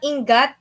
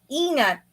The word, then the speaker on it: ingat: It's not ingat. You gotta ingat. Oh, the G is pronounced as an N.